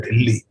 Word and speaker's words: दिल्ली: दिल्ली का पुराना उच्चारण है ढिल्ली, तो ढिल्ली जो है